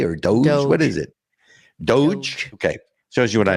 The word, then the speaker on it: DOGE: do you pronounce it Doge how do you pronounce it is it do or Doge what is it Doge okay shows you what I know so so